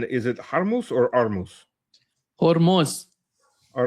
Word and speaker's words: Hormuz: they put in Persian they say Hormuz. As in but in English we call we we pronounce it Hormuz, yeah. And Russian it's just it drops the H sound period and just pronounces it Armuz.